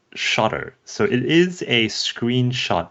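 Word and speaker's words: Shottr: app that I cannot live without is called shotter so it is a screenshot app it's spelled s h o TTR um the the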